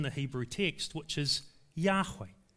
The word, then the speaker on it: Yahweh: name his name is yahweh previous generations pronounced it jehovah but it's probably best pronounced yahweh with a y two syllables yahweh it's god's name but